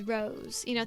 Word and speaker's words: Rois: So they have all the names like that where it's like Rois is Rose.